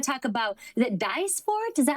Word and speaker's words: Dysport: We want to talk about, is it Dysport? Is that how you say it? Like fillers? Dysport.